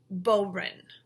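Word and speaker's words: bodhrán: it looks like it's a tricky word to pronounce but the word is boin boin we also have some Irish bagpipes or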